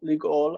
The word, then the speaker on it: לגאול: next word, ligoli, and once it's joined, then this becomes a short. It's a short closed syllable. Okay. So it's ligol. They actually wrote it with vav, which is how we would write it today, and it's fine, ligol. But the Masoretes are saying we can't have this long vowel in a closed syllable, so we have to read it as ligol, ligoli.